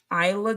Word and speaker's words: Isla Dawn: Isla Dawn's pronounced Isla Dawn? Isla? Isla. Okay. Oh, like island.